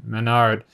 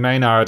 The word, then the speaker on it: Manard: is may not sorry the only reason i'm not saying maynard is because i'm used to it being a why like maywe in a rd so if it is